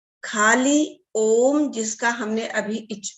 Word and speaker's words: ओम: हम कहते हैं ओम एक शब्द है, लेकिन ओम भी 3 शब्दों से मिलकर बना है, अ, उ, म।